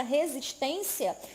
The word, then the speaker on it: resistência: Então, a palavra resistência é uma palavra paroxítona. O que é a palavra paroxítona? É aquela palavra que tem a penúltima sílaba mais forte, mais intensa, que é a sílaba tônica.